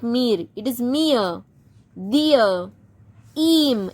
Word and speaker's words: ihm: Im. M for mango.